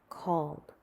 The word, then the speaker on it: called: They are pronounced with the d sound. Lived, traveled, called, loved.